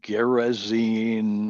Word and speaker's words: Gadarene: Gadarene is sometimes pronounced Gerazine. The transliteration is difficult and it's confusing, but it's the northeast corner of the Sea of Galilee.